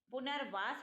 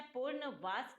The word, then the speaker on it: पुनर्वास: पुनर्वास होता है, पूर्णवास नहीं होता।